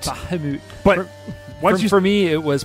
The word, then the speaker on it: Bahamut: No, we called it Bahamut, but it's actually pronounced Bahamut. Bahamut.